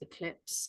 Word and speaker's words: eclipse: It begins with an E, an air sound. The last sound is a silent E. What does it rhyme with? Oh, it rhymes with lips, eclipse. And how many syllables has it got? Eclipse, that's 2.